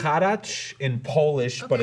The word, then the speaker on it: Haracz: Haracz. Haracz is a. It's Harris, like, you guys don't have the bank out here, but it's Harris, like Harris. Harris. Yeah, Harris. Just like that.